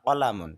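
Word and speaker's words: قلم: ঠিক এটাই যখন আমরা আরবিতে বলবো ইহা একটি কলম, তখন আরবি হবে হাযা কলামুন, হাযা কলামুন, এই যেমন কফের উচ্চারণ করতে হবে তখন।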